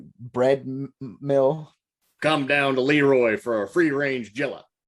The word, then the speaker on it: Le Roy: So welcome to Leroy, New York, otherwise pronounced as Leroy.